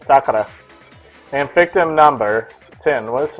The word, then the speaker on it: Sakura: Sakura, that's how you say it. Sakura.